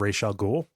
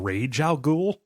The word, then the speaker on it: Ra's al Ghul: So we got some feedback about our pronunciation of Ra's al Ghul. We were praised for getting it right, but over the course of the episode, we eventually started saying Rage al Ghul.